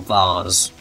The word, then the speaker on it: vase: get is that bloody vase or bars probably should save those that's the more British Way of pronouncing it but if they is VARs potato potato now if you